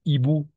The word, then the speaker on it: hibou: H, le H est muet. No pronunciamos. H es muda. Un hibou, un hibou, un hibou.